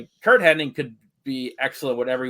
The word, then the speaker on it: Hennig: I pronounce his name wrong like my whole damn life. I in my brain always says Henning. I know it's Hennig. Same here. But like I always add the extra N. I always put the wrong emphasis, the wrong syllable in that one.